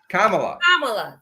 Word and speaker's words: Kamala: You can't mispronounce that woman's name. Kamala.